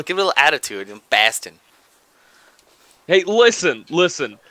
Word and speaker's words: Boston: takes place in Boston Bast say it right Baston Baston thank you Bast you could you at least try to do an accent when you say it it's going to take place in Baston come on give it